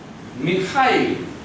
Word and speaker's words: Mikhail: This is M, this is I, this X, they pronounce it H. So like this. H, and this is A, and then this is I, and this is L. Mikhail Gorbachev.